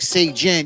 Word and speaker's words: Sayjin: Oh, come on, say, and they'd be like, Sayjin.